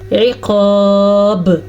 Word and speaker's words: العقاب: اور آگے شدید العقاب میں عین کے تلفظ کا بھی دھیان رکھنا ہے اور قاف کو موٹا کر کے پڑھنا ہے اور با پہ کلکلا کرنا ہے. کیسے؟ عقاب، یہ ہو گیا کلکلا.